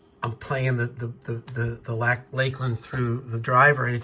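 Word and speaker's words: Lakland: And it is pronounced Lakeland, even though there's no E between the K and the L.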